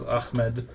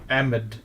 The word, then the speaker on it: Ahmed: There's, of course, probably what most people are familiar with is Ahmed, which is like the Arab pronunciation. But did you know there's another way to pronounce it that's technically correct? Pakistanis say Ahmed.